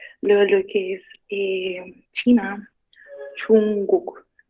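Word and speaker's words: 중국: Acá, como saben, esto, lo que es la consonante de la primera sílaba termina como una NG, entonces es como que se combina con la G que sigue, ¿saben? Entonces viene siendo como Chungguk.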